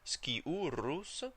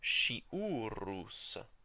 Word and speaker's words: sciurus: For the restored pronunciation, sciurus, there's no problem. For the ecclesiastical pronunciation, it actually changes to a sh sound. So the ecclesiastically pronouncing folks say sciurus.